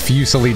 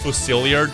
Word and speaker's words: Fusilier: I can tell that's Fusili Dragon, man. I can already tell. I literally can already tell. It's pronounced Fusilier Dragon. It's French, number one.